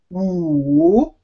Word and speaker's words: 五: But when you pronounce it, say it very slowly and lengthen the vowel. Wu, okay, falls down first, and then goes up.